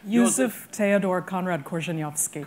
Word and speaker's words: Korzeniowski: extraordinary figure of Conrad, who's how do we pronounce his real name? Joseph Theodor Conrad Korzeniowski. Korzeniowski, known better to all of us as Joseph Conrad.